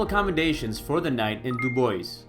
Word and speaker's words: Dubois: for the night in dubois yes that is how it's pronounced here at this point we